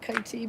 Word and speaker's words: Kitee: Kitee is one of the easier ones. I keep calling it Kitee because I'm American and that's how we would pronounce it, but it's Kitee.